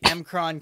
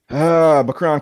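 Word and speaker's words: M'Kraan: This would later evolve to their chase of the Emkron crystal. Wait, did you say, oh no. You pronounced it wrong. Shino, how's that word pronounced again? Macron crystal.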